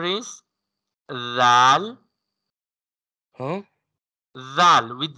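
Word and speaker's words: زاي: Say it Z, like buzzer sound. Za. Za. Yes. Za will be pronounced with buzzer sound, and when tip of the tip of the tongue touching to the lightly lower two front teeth, lightly upper two front teeth, then we can pronounce this sound.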